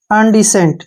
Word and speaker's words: indecent: यहाँ पे देखिए ध्यान से, IN का जो उच्चारण है ए के रूप में करेंगे, IN यानी कि अन, ठीक है, अन, क्या बन गया, अन। DEE से बन गया डी, CENT, सेंट, ठीक है ना, अनडिसेंट, क्या पढ़ेंगे इसको, अनडिसेंट।